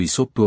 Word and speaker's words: アイソーポス: もたらしていますアイソーポスとイソップは同じ人物を指していますギリシャ語の発音による違いであり英語件ではイソップとして知られてい